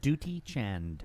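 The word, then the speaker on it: Dutee Chand: Oh, Duty, Duty Chand. right? Which you, so- that's how you pronounce it.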